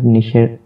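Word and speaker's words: niche: তো আমরা যে ক্যাটাগরির কাজ করব সেটাকে আমরা নিশ বলে উচ্চারণ করব, কেননা ডিজিটাল মার্কেটিংয়ের ভাষায় বিভিন্ন সাবজেক্ট বা বিভিন্ন বিষয়কে নিশ বোঝায়।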